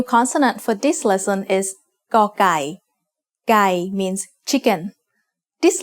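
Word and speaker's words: ไก่: The sound of gai as the initial consonant of a syllable is g. It is very similar to a hard G or an unaspirated K.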